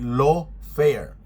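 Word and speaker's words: lawfare: Itong binabanggit ko po ay law fair. Ang pronunciation niya ay law. Law fair.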